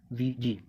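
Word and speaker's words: Ouija: अब जो उसके ऊपर लिखा होता है वो होता है OUIGA उसके ऊपर, जबकि उसको प्रोनाउंसिएट करते हैं VG।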